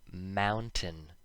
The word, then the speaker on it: mountain: When the letter T appears before an N, and they are separated by a short I sound, so the vowel, not always an I, and N together rhyme with in, the T makes no sound when we speak fast.